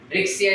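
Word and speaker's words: Riccia: and the other one is Rixia, इसे भी Rixia, Rixia, whatever, there are different names. Rixia is the correct pronunciation.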